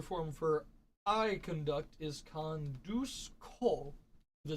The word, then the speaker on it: conduzco: So, our first irregular form for I conduct is conduzco. The Z, conduzco. Conduzco, yeah. All the Z's in Spanish are pronounced with an S sound. You'll never actually say the Z.